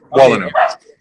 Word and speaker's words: Wolanow: Am I pronouncing your name properly, Areiel? It's Areiel Wolanow. Is that correct? Wolanow. Wolanow.